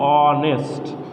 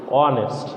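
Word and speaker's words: honest: বলছি এইচের উচ্চারণ যদি হ না হয়ে স্বরে অ বা অন্য কিছুর মতো হয় ওই ক্ষেত্রে অ্যান হবে, তাহলে এখানে হয়ে যাচ্ছে অ্যান অনেস্ট।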